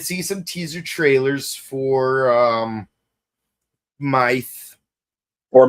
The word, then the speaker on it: Myth: Yeah, I mean, even though there's a TH there, but then again, the Japanese will pronounce it mice because of the way TH would yes, because they don't have a TH in their language.